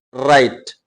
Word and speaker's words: write: எழுதுவது, ரைட், WRITE. இதுல W silent letter.